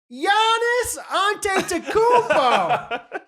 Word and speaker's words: Giannis Antetokounmpo: my ideas are about recognizing actors um it's pronounced giannis antetokounmpo lindsay i got it i figured it out